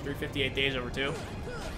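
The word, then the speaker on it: 358/2 Days: It was a game that was on the 3DS called 358 Days Over 2. And yes, that actually is the the pronunciation despite how the title looks for it, but it's all fine and good.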